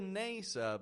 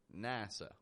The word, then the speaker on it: NASA: Not a NASA, but NASA.